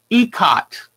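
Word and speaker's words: ikat: even though it's i-k-a-t that is pronounced ecot and it's an indonesian word it's an ancient ancient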